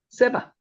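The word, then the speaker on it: סבא: 스바와 스바는 같지 않습니다. 위에 있는 스바는요. 원문으로 세바입니다. 세이 기억하시죠? 세 세 세 세 세바 위에는 세바입니다.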